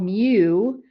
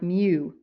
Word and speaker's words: mu: And this is called mu. Um is kind of how you pronounce it. It's kind of pronounced like mu.